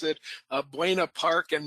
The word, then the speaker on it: Buena Park: the city pronounce it, but I'm going to pronounce it uh Buena Park and Mareno Valley.